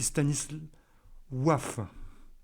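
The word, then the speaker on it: Stanisław: regginsky et Stanis Wavre nous en français on prononce Stanislas Stanislas en polonais c'est Stanis ouaf en français stanislaf Stanislas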